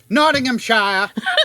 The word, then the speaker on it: Nottinghamshire: So, first installed at the Gedling Crematorium in Nottinghamshire Nottinghamshire. That's how you would pronounce it with an English accent.